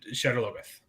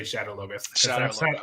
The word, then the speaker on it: Shadar Logoth: So let's get to Shadar Logoth. Shadar Logoth. Shadar Logoth. I'm still going to say Shadar Logoth. That's how they say it in the audiobooks.